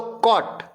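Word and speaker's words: caught: बोलो कॉट. क्या बोलो? कॉट. CAUT भी क्या पढ़ेंगे अपन? कॉट. साइलेंट क्या है? GH.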